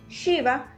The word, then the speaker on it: Shiva: Un ejemplo muy claro de esto es al decir Shiva. Shiva es un poco como cuando hacemos shh, es ese sonido del aire, shh, Shiva.